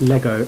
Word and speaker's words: Lego: it's pronounced lagoo no they came and said it's pronounced lego not legos similar to the way